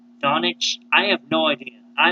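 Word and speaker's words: Dončić: Should the Suns take, how you say his name, Donic? Doncic? Donic?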